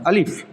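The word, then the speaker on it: ألف: আলিফ পড়তে কোনো টান হবে না। আলিফ।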